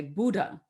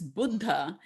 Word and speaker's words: Buddha: Because in America, you would say Buddha. And I was like, it's not Gouda cheese, it's Buddha.